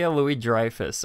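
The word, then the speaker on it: Louis-Dreyfus: long horrid dresser name is that how it's pronounced Julia Louie Dreyfus yeah Louie Dreyfus okay um yeah I don't think I'd be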